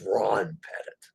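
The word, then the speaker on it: Rob Pettit: on all royal ships it's not bob it's ron pettit so i did say his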